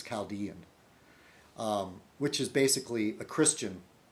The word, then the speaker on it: Chaldean: A lot of Americans say Caledonian. I think it's Chaldean, which is basically a Christian.